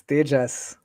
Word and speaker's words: Tejas: Is it Tejas or Tejas? Yes. It's actually neither. It's Tejas. So it's how you would pronounce the non-Spanish names.